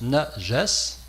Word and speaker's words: najas: pour signaler ce mot-là, najas. Parce que ce mot najas, le voici, ça se prononce najas, N-A-J-A-S, et ça a été traduit par impureté.